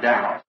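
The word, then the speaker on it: Daugh: Not really in his name, he's a German, D-A-U-G-H, and I also pronounce it Dow.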